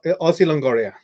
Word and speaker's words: Ozzy Longoria: a little bit yes aussie longoria longoria is italian i i i'm gonna